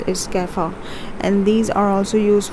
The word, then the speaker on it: kefir: okay so this is what you call is kefir and these are also used for health benefits or it's just simply a drink people do it people drink it so it's kefir it's a it's basically a fermented milk we